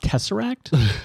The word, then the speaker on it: Tesseract: five I love good taser acting I'm a sucker for good taser acting and now I just have this wonderful image of it's actually pronounced Tesseract sorry Dan I have